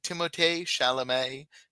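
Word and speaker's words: Timothée Chalamet: Conor for Challengers and timotay shalam for a complete unknown which is how you pronounce his name by the way all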